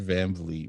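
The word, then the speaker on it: VanVleet: thank you there the second half of his last name rhymes with fleet red van bleet bro yeah wait wait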